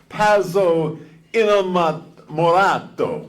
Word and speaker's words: pazzo innamorato: Pazzo innamorato.